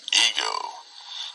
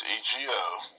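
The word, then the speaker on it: ἐγώ: So we got ha, then day, then ipon, then autos, and then ego. Now, it says say I. Okay? It's 1473, it's EGO, this word.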